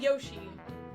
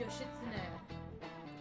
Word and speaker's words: Yoshitsune: It's not Yoshi. It's Yoshitsune. It's outlawed because it's considered a form of assisted suicide.